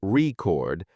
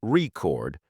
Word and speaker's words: record: unstressed syllables for instance in the word record stressing the first syllable record makes it a noun while stressing the second syllable record turns it into a verb practicing word stress can